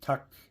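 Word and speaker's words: takk: Tak is actually tuck, T-A-K-K.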